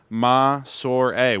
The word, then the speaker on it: Massore: that okay m a s o r e pronounced maor we folks this is the first time we